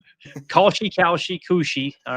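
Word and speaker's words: Kalshi: but uh how do you say is it Koshi or Koshi Sports? The new gambling service. K A L S H I. How would you I've heard Koshi?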